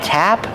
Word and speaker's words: tap: can call it a tap or a spigot so tap with a short ass sound like apple and black cat tap and spigot spigot